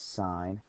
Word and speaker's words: sine: And sine is abbreviated sin. Some people say sin, but we pronounce this sine.